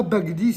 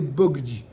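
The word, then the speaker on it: בגדי: devriez dire quoi ici vous devriez dire bagdi or c'est pas bagdi c'est bogdi là c'est une autre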